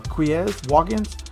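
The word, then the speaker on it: Quez Watkins: this wide receiver 88 overall was it uh quiz walk-ins that's how you say his name and the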